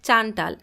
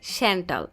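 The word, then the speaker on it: Chantal: ঝেন্ডে বলে হ্যাঁ তার নাম তো চান্টাল। জেকব বলে না স্যার উচ্চারণ হবে স্যান্টাল। ঝেন্ডে জোরে হেসে দিলেও গম্ভীর জেকব সেভাবেই তাকিয়ে থাকে।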